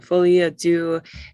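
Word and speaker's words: folie à deux: So the first one's a French little phrase, and Folies, Deux, and then pas de deux.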